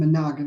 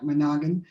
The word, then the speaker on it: Menogan: It's with two N's and Menogan, like Menogan, just because it helps people remember how to do that.